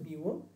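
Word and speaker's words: μ: bar minus হচ্ছে মিউ এটাকে উচ্চারণ হচ্ছে মিউ divided by sigma divided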